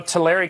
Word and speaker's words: Tulare: we took which is really unfortunate you know Tulare County is how it's pronounced actually but Jerry County we are at